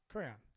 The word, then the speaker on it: crayon: what I realize is I've been saying cran wrong my whole life you know crayons crayon yeah crayon crayon crayon it's two syllables crayon yeah never knew